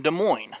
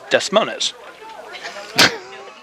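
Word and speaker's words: Des Moines: that's really interesting the ding Catholic pipeline from De Mo or as we like to say it here in Kansas desmon no no you like to say that no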